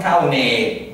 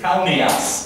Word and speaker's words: Cauneas: Ergo cauneas, cauneas, non caunee, sed cauneas, cauneas.